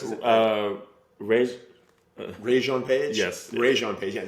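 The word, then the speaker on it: Regé-Jean Page: Wait, Janae, how do you pronounce it? Rajon Page? Yes. Rajon Page.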